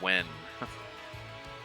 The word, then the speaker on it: Nguyen: The Nguyen, it's commonly pronounced Wen.